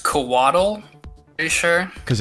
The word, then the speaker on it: Coatl: Although I should say it's pronounced Coatl, are you sure?